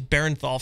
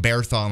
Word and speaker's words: Bernthal: I love John Bernthal. Am I pronouncing that right? Yeah, you got it right. I used to think it was Barenthal for the longest time. I was adding an I for no reason.